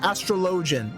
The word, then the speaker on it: Astrologian: load astrology enough yeah astrologian that's how it's pronounced for the Holy See